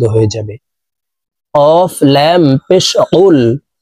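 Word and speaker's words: قُلْ: কফ লাম পেশ কুল। কফ হরফের উচ্চারণ জিহ্বার গোড়া তার বরাবর উপরের তালুর সঙ্গে লাগাইয়া উচ্চারণ করতে হবে।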